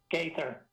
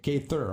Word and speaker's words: Gaither: going is it am i correct in saying gather is that the right way to pronounce it gaither okay gay thur okay very close yeah you know i got